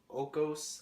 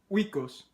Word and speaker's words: Oikos: It's like Okos. I don't know how to say it. Oikos. How would you say that? Oikos.